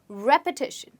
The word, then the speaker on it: repetition: again repeat after me repetition did you hear i said repeat and repetition well both of them have different pronunciation okay let's look at